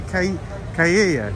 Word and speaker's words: Chiaia: Okay, as the guy said, Via Chiaia. Chiaia.